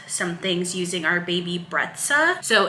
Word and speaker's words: Brezza: things using our baby breta so in another video I saying baby Breza I heard I was like on their Instagram account it's called baby breta so I want to